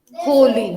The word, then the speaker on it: holy: Hollywood with two L's means a flower, and Holly with one L means Holy. Holy. The pronunciation is different. This is holly and that's holy.